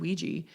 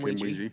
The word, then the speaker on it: Ouija: And I was like, growing up, we always heard it called Ouija, and why that pronunciation?